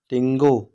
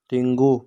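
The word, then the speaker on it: tengok: ठीक है, टिंगो, टिंगो के साइलेंट है।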